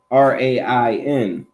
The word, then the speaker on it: reign: your mortal body now this ain't talking about you know Purple Rain r-a-i-n this word rain is spelled r-e-i-g-n you understand anybody know